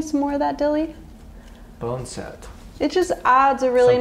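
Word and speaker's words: boneset: Will you hand me the bone set? That's how you pronounce it.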